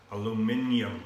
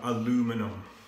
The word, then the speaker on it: aluminium: say it it's almond and it's aluminium put that in your pipe and smoke it aluminium not aluminum okay so it's building quite